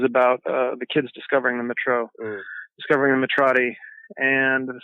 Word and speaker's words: Mytro: I've been pronouncing it Mytro in my head, but Mytro like myth, so that's how I pronounce it. But people are pronouncing it Mytro as well, and Mytro and a couple other things.